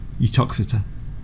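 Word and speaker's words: Uttoxeter: How do you spell it? Put it in game chat. Truckster? I wouldn't. Untruxitia? Utoxeter. Utoxita?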